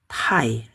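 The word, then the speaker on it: 太: Tambah titik bacanya tai, terlalu.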